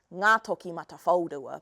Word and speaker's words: Ngātokimatawhaorua: So I'm going to teach you how to say the name Ngā Toki Mata Whaurua.